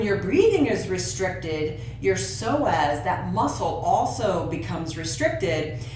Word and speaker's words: psoas: There's a muscle that's also very related to this emotional health, and it's the psoas. You spell that P-S-O-A-S, the psoas muscle.